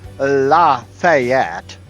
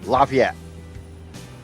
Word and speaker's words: Lafayette: It is not Lafayette or Lafayette. It's Lafayette. It is Fort Ouiatenon.